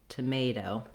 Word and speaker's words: tomato: That's because the stress in tomato is on the may syllable.